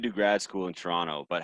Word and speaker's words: Toronto: Toronto is how Americans say it. If you're from Toronto, it's just Toronto. You don't say the second T.